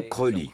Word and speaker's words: Crowley: Il voulait qu'on prononce son nom Crowley, car il disait que ça rimait avec holy, qui veut dire saint en anglais.